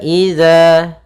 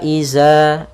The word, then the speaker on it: إذا: Pada bacaan wa idza, pada lafal huruf dzal di sini hati-hati jangan sampai membacanya dengan huruf zai. Karena di sini bukan huruf zai, akan tetapi dia huruf dzal. Ya, jangan kita baca wa iza.